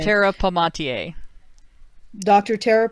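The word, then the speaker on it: Palmatier: Emphratas, Zed, Angry Harry, Tara Pommy, I can't pronounce her name. Dr. Tara Pomatier. Dr. Tara Pomatier, Paul Elam, Hawaiian Libertarian, Elusive Wapiti, Obsidian, Bernard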